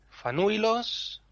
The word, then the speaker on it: Fanuilos: Y luego hay un último caso en el que la penúltima sílaba es fuerte, que es cuando lleva diptongo. Un diptongo también la hace fuerte. Fanuilos, Ulairi, Valarauco.